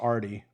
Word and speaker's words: RDE: I just made my version of Jarvis, but mine is called RDE, pronounced Artie.